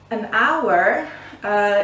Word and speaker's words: hour: in a hour okay an hour even though it starts with a console with an age there is a little problem with that we don't pronounce the letter H because the letter H